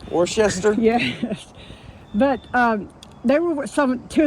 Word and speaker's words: Worcester: He was one of the missionary, there's just a couple, John Ross and John Samuel, I cannot pronounce his last name. Worcester?